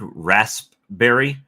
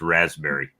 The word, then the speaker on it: raspberry: And I know you struggle with that word, raspberry, but if it makes you feel any better, in the States, we don't pronounce the P. It's just raspberry.